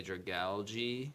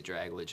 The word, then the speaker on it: Dragalge: It's Mega Floette, Mega Greninja, and Mega Dragalge. Sure. I always say Dragalge and piss Chris. It's because that's not how it's spelled.